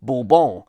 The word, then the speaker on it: Bourbon: So, for a start, I suspect we should really be pronouncing the biscuit the French way, Bourbon, rather than the more typical way we do today, consistent with the American whiskey, Bourbon, which incidentally does also